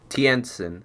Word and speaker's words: Tientsin: Hold on, let me Google how to pronounce this. Tientsin.